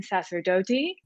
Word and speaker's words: Sacerdote: So first up, I'd like to welcome Caroline Sacerdote. Did I say it right? Yes, you nailed it.